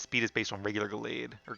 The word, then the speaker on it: Gallade: is based on regular Gallade, or Galad, however you say it. I always say Gallade, like a blade, which is probably how you pronounce it.